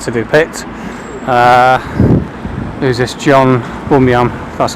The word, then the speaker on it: Bunyan: John Bunyan, that's how you pronounce it.